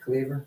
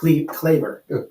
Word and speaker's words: Claver: We have Jake Cleaver. Jake Claver. CL, how do you say it? Jake Claver.